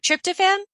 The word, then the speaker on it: tryptophan: people also crave ice cream and I can't pronounce this tri t y p t fan p h n Tri oh tryptophan tryptophan thank you then apparently you should be